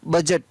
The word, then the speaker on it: budget: BUDGET, बजट, बजट सुनते हैं हमेशा, तो उसकी स्पेलिंग होती है BUDGET, बजट, तो यहाँ पर D है वो साइलेंट।